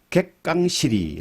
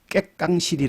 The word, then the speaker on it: 객강시리: 거 세력이 큰 말은 개 깡 실이 라는 것인데 개 캉 실이 새끼랑 cb 그 이 말은 그 첫 음절을 된소리로 발음하는 깨 깡 시기 라는 말로도 많이 쓰입니다 4 4 거제 거창